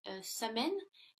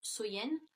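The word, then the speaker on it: Samhain: nuit de l'année donc était samen donc qui est prononcé qui se prononce soyen et donc il croyait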